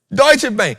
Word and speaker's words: Deutsche Bank: Deutsche Bank. Because for years I struggled with pronouncing it. It don't even look like that's supposed to say Deutsche Bank, but that's what it says. It says Deutsche Bank.